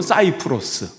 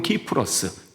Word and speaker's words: 키프로스: 어 구부로 사이프로스 키프로스 영어 발음으로는 사이프로스 예 거기 이제 터키식 발음으로는 키프러스 그리스 발음으로는 키프러스 그러는데 거기 태생인 레위 사람이에요.